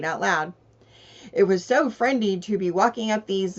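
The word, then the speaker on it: frindy: it's spelled f r i n d y friendy which rhymes with Wy and friendy means strange or weird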